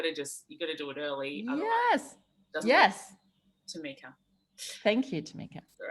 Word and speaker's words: Tamica: I will just quickly let you know, you pronounce my name's Tamica, just in case you say it again. It's like if someone has something in their teeth, you got to do it early. Yes. Tamica.